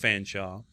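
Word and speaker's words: Featherstonhaugh: traveler george william fanshawe and yes it looks like featherston hall but it's pronounced fanshawe he said of the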